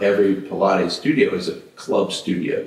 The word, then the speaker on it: Pilates: Pates for a reason pilates pilates maybe have not say it right pilates pilates all right not polites but it's not but